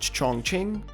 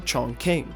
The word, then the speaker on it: Chongqing: The location of our next mission is in China, and is either pronounced Chongqing or Chongqing. People will correct you either way, but what we can